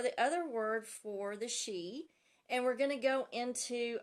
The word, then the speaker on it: Sidhe: is gonna be the Celtic legends of the XI and it is spelled s idhe but it's pronounced XI so I'm just gonna talk about a few